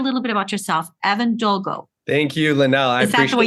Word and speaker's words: Dolgow: in the world so I accept all versions of it but Evan Doo Evan DOA it's it all works with me okay I just